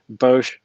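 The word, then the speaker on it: Boushh: Their suggestion is to remove Luke and Leia in the center of the print with Bosch Leia. Did I pronounce that right? Yeah, Bush.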